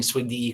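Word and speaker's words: SWGDE: That's that's bonus points for uh pronouncing swigd correctly.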